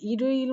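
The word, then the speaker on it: 일요일: এভাবে মূলত উচ্চারণ করতে হবে। এরপরে যেটা বলা হয়েছে এখানেও দেখেন রিগুলটাকে তুলতে হবে ওয়ারিওইল। তাহলে ইরিওইল মানে কি?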